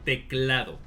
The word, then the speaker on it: teclado: So, this keyboard, the word for that in Spanish is teclado. I knew that. Yeah. Yeah. How you pronounce that?